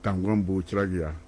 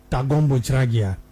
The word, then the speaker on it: Tangombu Chiragia: As you pronounce it, let me pronounce it again for you. It's Tangombu Chiragia. Tangombu Chiragia.